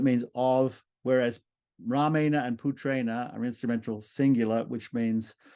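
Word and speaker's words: पुत्रेण: that comes before it see the r that comes before p-u-t-r-e-n-a so the r changes the dental n into a cerebraland okay next one putrana Putra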